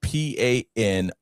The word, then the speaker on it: panoply: So it's a noun, and it's spelled Panoply, and it's pronounced panoply.